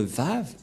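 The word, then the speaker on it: וו: vave vave et euh la prononciation c'est V as c'est-à-dire que c'est V la bonne le bon la bonne prononciation ici on voit la prononciationoxim équivalent c'estàdire c'est comme la langue européenne les Européens quand il voi VOG il il prononce VOG c'est un lettre V et donc la prononciation du lettre V en hébreu selon la prononciation de Abraham et Moché on le prononce V mais pas W ou ou comme avec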